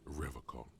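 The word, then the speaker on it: Revachol: He pronounces Revacol with a hard K, unlike us. I like to pronounce it the hard way.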